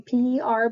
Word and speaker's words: per: Here, so per on p e r, but it's pronounced per, not the actual um, letters.